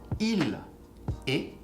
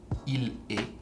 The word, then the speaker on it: il est: Il est, same sound, even if the spelling is actually different, you're gonna say est, il est, he is.